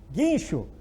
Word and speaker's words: guincho: Guincho. Tem o G, U antes do I. É dígrafo porque o U não é pronunciado.